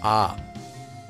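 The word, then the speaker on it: ㅏ: This letter is pronounced ah. Ah, such as in the words law or car in American English.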